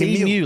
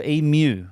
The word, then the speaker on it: emu: It's emu like museum. Museum. Okay. So, emu. If I'm not learning something new during this segment, I'm not doing it right. So, I'll get I'll get everyone in this country saying it right eventually.